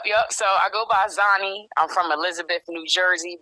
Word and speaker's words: Xani: up with the name Xenia so it's actually pronounced zie okay um yep yep so I go by zanie I'm from Elizabeth New Jersey born and raised